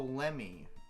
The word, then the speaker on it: Lemmy: Oh, Lemmy.